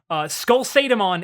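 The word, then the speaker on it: SkullSatamon: Skull Sadamon is the same, but it's pronounced like a SATA cable, not SATA like Satan.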